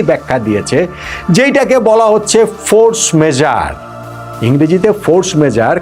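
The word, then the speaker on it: force majeure: যেইটাকে বলা হচ্ছে ফোর্স মেজার। ইংরেজিতে ফোর্স মেজার। কিন্তু আসলে এটা ফ্রেঞ্চ শব্দ তো ফ্রেঞ্চ উচ্চারণ করাটা বড্ড কঠিন। আমি দেখলাম সবচেয়ে কাছাকাছি বোধহয় ফোক মেজাহ এই টাইপের কিছু একটা উচ্চারণ হবে।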